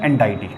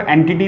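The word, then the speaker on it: entity: कोई टीचर इसको एंटिटी भी बोल सकता है, जो भी आपका टीचर जैसे प्रोनाउंसिएट करता हो उसके हिसाब से चल सकते हो, उसमें कोई दिक्कत नहीं, सबका प्रोनाउंसिएशन थोड़ा बहुत अलग हो सकता है। तो कोऑर्डिनेशन एंटिटी बोल दो, एंटाइटी बोल दो या एंटिटीज बोल दो, ठीक है ना।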